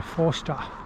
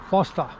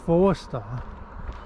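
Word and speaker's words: Forster: hope I get to Foster Foster see look it's spelled four-star but everyone's really anal about saying no it's Foster made don't say four star it's faster not four star and for some reason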